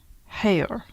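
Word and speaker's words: Haigha: it looks like higa he pronounced it so as to rhyme with mayor so hair okay that's what i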